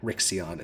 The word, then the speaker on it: Rixion: to go somewhere else it is rixion rixion is the pronunciation for it rixion yeah yeah you got it is there a nickname